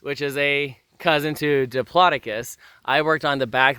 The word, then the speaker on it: Diplodocus: they are cousins to Diplodocus wait wait wait did you just pronounce it Diplodocus yeah not diplidocus oh my if you say Diplodocus you may unsubscribe right now from this channel it is Diplodocus these are cousins to